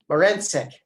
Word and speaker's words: Marincic: from the OPC, Marincic. Did I pronounce that right? It's close enough. It's like forensic with an M. Marincic.